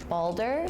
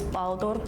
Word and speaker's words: Baldur: As an American, I would say Balder. In Finland, we would pronounce this Baldur. In Iceland, we would say Baldur. In Swedish, we would say Balder.